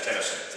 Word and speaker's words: Tennyson: And also, if you need assistance, you can always reach out to Chief Tennyson. Is that correct pronunciation? That is Tennyson.